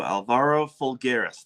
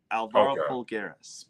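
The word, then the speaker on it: Alvaro Folgueiras: So Alvaro Fulggeras, that's how it's pronounced. Alvaro Fulggeras, by the way.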